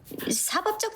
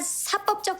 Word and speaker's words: 사법적: 사법적 책임이 아니라 사법적 책임이라고 발음해야 합니다. 공법에 대립하는 개념인 사법은 사법으로 발음합니다. 입법 및 행정과 더불어 국가 작용에 한축을 맞는 사법과 한글 표기는 같으나 발음이 다릅니다.